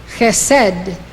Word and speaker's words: Chesed: This is how they are pronounced. These 9 Sefirot emanate from Keter. Chokhmah, wisdom. Binah, understanding. Chesed, love.